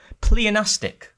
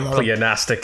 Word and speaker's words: pleonastic: It's pleonastic. Pleonastic. Yeah. And that's pronounced right?